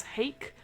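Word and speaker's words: Haeck: So it's written obviously by Matthew Mercer, but with also another person called James Hake, rhymes with cake.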